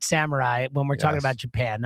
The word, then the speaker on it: samurai: Samurai village. Is that how he say? How do you say this? Samurai. I'm guessing it's not sumai.